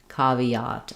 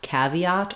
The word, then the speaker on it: caveat: So, cavat, we have the a vowel. Uh, first syllable stress. Letter e says e. Caviat. And then letter a says ah. Again. Um, I do think some people say caveat. So, that's also a possibility.